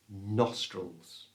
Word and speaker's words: nostrils: To say this correctly, we're going to split the word into two, nos and trulls. Nos is the strong part of the word, so make sure you get a good O sound right in the middle of it. Nos. You try. Nos. The second part, trulls, we're going to change the I for the schwa sound. That's that little sound that's so common in English. So it becomes trulls.